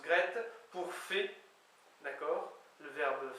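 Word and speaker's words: graet: Gret, G-R-A-E-T, mais qui, j'en suis quasiment sûr, se prononce Gret, pour fait, d'accord, le verbe faire conjugué.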